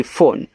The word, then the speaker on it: phone: PHONE फोन, तो PH से आपका फा, O से ओ की मात्रा फो, यन से ना फोन, लास्ट में जो ई आता है उसका उच्चारण तो करते नहीं, इसे देखो यहाँ पे भी नहीं हुआ है।